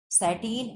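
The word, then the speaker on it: sateen: और SATEE और N, ये क्या है? ये साटीन है, ठीक है।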